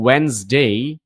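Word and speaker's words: Wednesday: Monday যেমন এটা হচ্ছে টিউসডে এটা হচ্ছে ওয়েনসডে এইযে এরকম ওয়েনসডে এটা থারসডে এইযে থ্রসডে না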